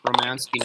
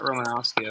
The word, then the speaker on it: Romansky: I've been saying it wrong. Romansky, not Romanowski.